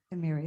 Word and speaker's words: Emyria: And I just want to double check my pronunciation. Would you please say? Emyria. Emyria, it is Emyria.